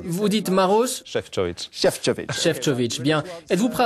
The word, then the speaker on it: Šefčovič: prononcé votre nom parfait très bien très bonne prononciation vous dites marosfov chefov chefovic bien êtes-vous prêt à répondre aux questions de